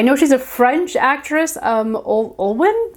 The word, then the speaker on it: Olwen: I know she's a French actress, Olwen, I think is how you say her first name.